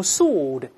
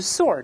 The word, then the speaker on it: sword: 英国人都用 sword，美国人都是 sword，不要读 sword 啊，叫 forge a sword，就是锻造一柄剑。